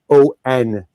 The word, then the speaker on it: Sammon: For anyone listening, though her name is pronounced like the fish, and she said this to me when I asked how to pronounce it, it is actually spelled Sammon.